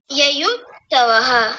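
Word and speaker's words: युयुत्सव: बोलिए यत्सव यत नहीं युत दो देखिए य पर भी ऊ की मात्रा है और अगले य पर भी युत्सव युत्सव ऐसा बोलिए ययुत्सव हां जी बहुत बढ़िया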